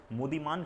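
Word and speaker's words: Muddiman: अब लिखिए एक कमिटी का नाम है, that is मुदीमान committee, this is the spelling, MUDDIEMAN, मुदीमान committee.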